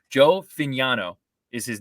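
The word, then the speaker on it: Fagnano: I want to make sure I'm pronouncing his name correctly. Joe Fignano is his name.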